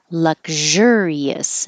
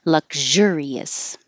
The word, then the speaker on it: luxurious: when it's the adjective luxurious now the sh has voicing so it's with sound luxurious and the ious looks